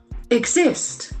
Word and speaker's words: exist: Exist. Exist. That G sound, Z sound are very prominent here. Letter S has got Z sound also.